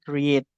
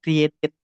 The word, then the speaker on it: created: J itu sebenarnya tadi kan kalau saya enggak salah dengar sisita menyebutnya create. Nah kayak ed-nya mungkin disembunyikan ya sama sisita. Nah tapi jadinya created aja.